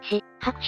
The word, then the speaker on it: 四拍手: ふむふむでも 4 拍手じゃなくてし拍手と読むのね何か理由はある